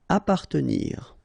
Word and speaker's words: appartenir: Appartenir, okay, double P, basically you don't pronounce the double, so you just pronounce appa, appartenir.